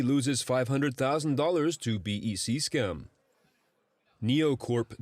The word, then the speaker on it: NioCorp: NEOCorp Developments, that is spelled NIOCORP, is a company that